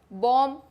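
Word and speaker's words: bomb: बॉम्ब B silent है।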